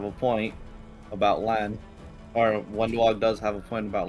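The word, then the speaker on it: Wenduag: How do you pronounce her name? Wendwog. Wendog, yeah.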